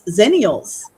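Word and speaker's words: Xennials: millennials and they have a special name for that and that's zenials. I did not know that. Yeah. Um, so technically I think you would actually fall into that zenial um, which is spelled with an X for like so you're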